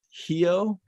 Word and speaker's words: Rio: don't even pronounce the do they say hio yes that would be more accurate a total of 1